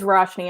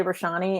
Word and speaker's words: Roshni: Yeah, it is Roshni, and I always want to say Roshani, and actually I was talking to her and I called her Roshani and I felt terrible, but it's Roshni.